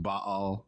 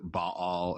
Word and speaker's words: Baal: and of course technically it's pronounced ba'al right but if i have to pronounce it ba all every time i'll episode i'm going to feel like super pretentious right like i never